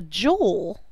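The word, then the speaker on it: joule: use for work is called a jewel it's not spelled like jewelry it's j l s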